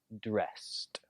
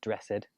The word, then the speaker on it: dressed: danced contacted impressed reminded and dressed again not dress ed but dressed who did you last